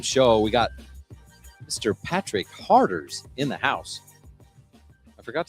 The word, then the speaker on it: Harders: to talk about Patrick Harders to Lindsay, and I'm like, yeah, Patrick Harders. And she thought it was Patrick Carter's. Like, no, it's Patrick Harders.